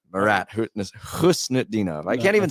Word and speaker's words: Husnutdinov: Marat Husnutdinov, who has got 2 goals in his first 5 games with the Boston Bruins.